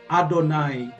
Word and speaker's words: Adonai: ia Hai akan tetapi mereka tidak pernah membacanya yahwe Karena itu adalah nama yang agung Nama yang mulia mereka baca itu dengan adonai yang artinya Tuhanku adonai kalau ada didalam Alkitab